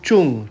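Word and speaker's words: trứng: लिखा जाता है टी आर यू एन जी ट्रूंग लेकिन प्रोनाउंस किया जाता है चुंग।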